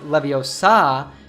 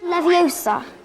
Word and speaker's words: Leviosa: saying when guardium leviosa you should not pronounce leviosa with an open ah sound at the end but rather with a schwa sound so instead of saying leviosa you should say leviosa this is really useful